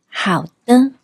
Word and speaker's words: 好的: But if you want your tone to sound warmer and more polite, you can say 好的，好的 Here, 的的 is pronounced in a neutral tone, short and light, which softens your tone and makes the whole sentence sound more natural and pleasant.